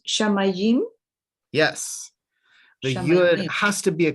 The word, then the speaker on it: shamayim: would know it but it's shamayim the accent is on the meme there's no way you would know it because it's not marked shamayim means heaven a